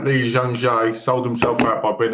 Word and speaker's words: Lee Jung-jae: get his name up to say it right, Lee Jung-jae, sold himself out by being in that show.